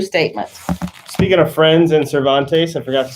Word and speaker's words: Cervantes: and thinking for yourself here's what cervantes which i'm sure i said wrong famous spanish novelist says about courage you wrote don quixote nice so how would you say his name cervantes yes he who loses wealth